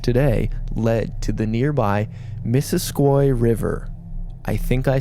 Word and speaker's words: Missisquoi: traveled on the Underground Railroad, and it is pronounced Missisquoi River. Is that a perfect impression of the French guy who says how to pronounce things? It is, except he would call it Missisquoi.